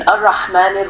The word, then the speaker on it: الرحمن: work on one in arahman rahim make sure the ha is pronounced clearly from the middle of the throat in the elongation of